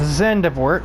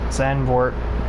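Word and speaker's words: Zandvoort: good round here it's zendevort zanvort i always pronounce the d too much um the d is too pronounced oh my goodness anyway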